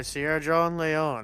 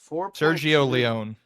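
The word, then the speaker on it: Sergio Leone: I've been want more by Sierra John Leon and I definitely butchered that name. Sergio Leon.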